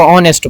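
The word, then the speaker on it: honest: और इसमें जो लफज़ है ऑनेस्ट इसको ऑनेस्ट बोलते हैं। इसमें जो एस है ये साइलेंट है।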